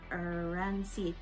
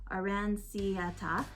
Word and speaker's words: Aranciata: Not to mention beloved soft drinks like lemon galosa and orange arancite. I'm very bad at pronouncing things. Aranciata, and let's not forget prosciutto.